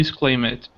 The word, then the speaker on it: exclaimed: Yeah, no extra vowel sound for the ed. Because why? Because M is a voiced sound. So when you have a verb with a voiced sound at the end of the word, you just pronounce the D, not the E sound.